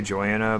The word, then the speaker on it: Joana: You can say my name however you want. I used to say Joanna, but over time, when I came back for Classic, I started saying Jonah.